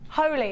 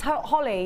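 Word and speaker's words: Holi: Holy. It's Holly, yeah?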